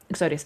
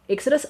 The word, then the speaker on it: Exodus: Um, Exodius, Exodus. Sorry. Sorry, I said it wrong. Exodus. I have um I am